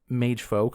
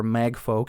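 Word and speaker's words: Magefolk: And so Whitica creates these mage folk or mag folk as they're pronounced within the game.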